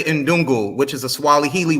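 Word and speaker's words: ndugu: he's trying to say in dungu which is a swally Healy word for brother he doesn't know how to pronounce it it's in dungu it's a Swahili word for brother that's his name you're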